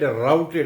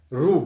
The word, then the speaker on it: rout: So we had routed. I am making the word understand, rout. So root ROOT, ROUTE and root. We pronounce this word root in India, but they pronounce rout.